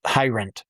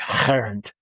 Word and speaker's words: Heirendt: It's pronounced easier than it's than it looks like. Just Hirendt. Perfect. Unless you're in Ger- And then it sounds something guttural like Hirendt.